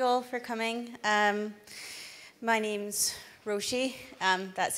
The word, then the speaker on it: Roisi: My name's Roisi. That's how you pronounce it there.